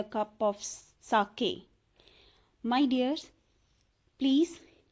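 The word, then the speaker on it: sake: इट्स a Japanese drink, साके, नॉट सेक जैसे हम बोलते हैं फेक सेक, इट्स a different one. ई के ऊपर साइन सा बना हुआ है तो हम इसकी प्रोनाउंसिएशन मीन्स बिल्कुल डिफरेंट है, हम उसी लैंग्वेज में बोलेंगे, तो ये है साके।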